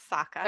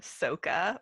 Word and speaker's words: Sokka: Is that how you pronounce his name? Yes, Sokka. Okay, Sokka. Okay, kind of like Even Sokka. though they say in the live action Soka, which is so obnoxious.